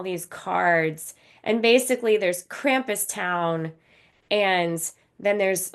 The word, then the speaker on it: Krampus: to the N degree kumus or Krampus it's Krampus I thought it was kumus it doesn't matter I'm